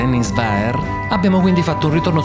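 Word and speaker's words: Henningsvær: prima di arrivare a henis wager seguiteci tralasciando il fatto che la pronuncia corretta dovrebbe essere Enis verer abbiamo quindi fatto un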